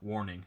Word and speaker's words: Warning: Warning, not warming. I say it wrong every time.